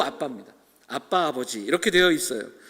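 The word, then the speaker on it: Abba: 그리고 아람어를 살펴보면 아람어로는 발음도 아빠입니다.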